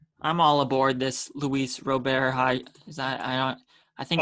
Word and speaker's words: Luis Robert: I think that's how you say his name, Robert, not Robert. I think it's Robert.